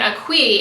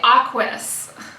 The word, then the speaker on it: Aquis: I've been calling it Aqui. It's actually Aquis. Aquis. They have a whole post on their Instagram. That's how I found out, where they explain how it's pronounced. It's Aquis, like Aquis.